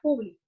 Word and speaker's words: público: Por ejemplo, yo uso la palabra público. Público, cuando lleva la mayor fuerza de voz en la antepenúltima sílaba, hace referencia a persona.